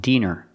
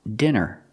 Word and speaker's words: dinner: word is not pronounced Diner it's pronounced dinner we see the I before a double consonant that tells us to pronounce the I with the short sound I like this is